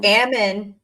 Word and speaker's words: Ammon: Is it Amon? Ammon? It's Ammon. Ammon. He pronounces his name in the video where he gives out that statement. He says Ammon. And I was like, backgammon?